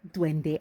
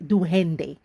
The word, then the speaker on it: Duende: my Creole culture and I don't say dwende, I say duhende.